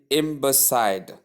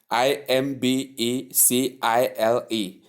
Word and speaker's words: imbecile: There is no D in the spelling and there is no D the sound in the pronunciation.